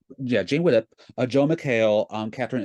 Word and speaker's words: Jane Widdop: Stars a Jane widup is that how you pronounced yeah Jane widup a Joe mcale um Katherine Isabelle and Justin